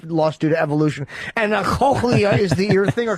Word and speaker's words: cochlea: His cochlea doesn't work?